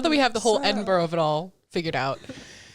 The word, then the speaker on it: Edinburgh: that's wrong well it's spelled Edinburg but it's pronounced Edinburgh really you know it's one of those weird